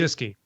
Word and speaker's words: Wojcicki: So and that Susan, I can't pronounce her last name. Do you anybody? Wojcicki.